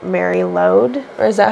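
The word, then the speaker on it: Mari Lwyd: And it reminds me of, like, Mary Lode. Or is that how it's pronounced? Yeah, Mary Lode.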